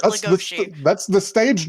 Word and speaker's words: Legoshi: how they keep saying legoshi and that I'm just they say I listen I understand that you're angry but they do pronounce it legosi that's the stage name